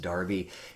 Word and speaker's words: Derby: I know it looks like Derby, it's pronounced Derby.